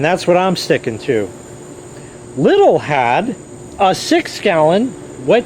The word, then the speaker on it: Lidl: or lethal or lidl yes it is pronounced little not lethal in the us as much as people think it's lethal it's not because they have overhead